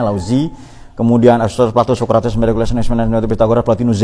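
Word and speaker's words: Laozi: sampai laut zo lauzi caraa bacanya lauzi kemudian plat socrates pyagor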